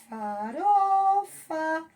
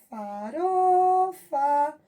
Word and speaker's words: farofa: Por exemplo, farofa, ró, faró, ró. É a sílaba tônica. Veja, farofa. O RO é a nossa sílaba tônica. Ele deu entonação mais alta.